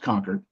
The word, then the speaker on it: Concord: And I know it's pronounced conquered, but I just wanted to enunciate for everybody. So Concord Female College established in 1856, was before the Civil War.